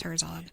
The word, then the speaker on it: Herzog: Spelled like it sounds, Herzog.